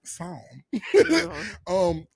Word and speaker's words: Psalm: The P is silent. Psalm. Psalm 51, 10 through 12.